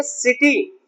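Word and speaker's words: city: सकते थे, लेकिन नहीं, किटी गलत है। क्योंकि अगर सी के बाद में चाहे आई आए, चाहे ई आए, चाहे वाई आए, तो उसका उच्चारण हम सा पढ़ते हैं, का नहीं।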